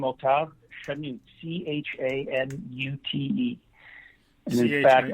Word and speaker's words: Octave: Like the French name Octave.